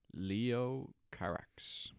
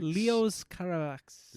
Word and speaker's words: Leos Carax: Is that his name? Leo Carax. Leos Carax. Leos Carax. French. So he's French.